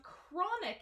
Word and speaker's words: chronic: is the word chronic chronic is an adjective so in this case the CH is not a chest sound it is a